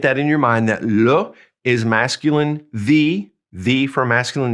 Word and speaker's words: le: So the way we say the in French for book is this, le, L-E, and E is pronounced E.